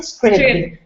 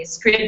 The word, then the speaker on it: Scribd: I always pronounce it scrib. Yeah, so I was looking up the pronunciation I of was it. wrong. Apparently, they are ambivalent about the pronunciation. You can say it however you like.